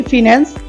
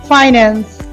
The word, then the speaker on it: finance: আমরা বলে থাকি ফিন্যান্স, এটা হবে ফাইন্যান্স। ফাইন্যান্স।